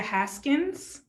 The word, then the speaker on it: Haskins: you and haskins i asked you how to pronounce your first name but i don't want to mess up your last name either so did i pronounce that correct haskins you did haskins um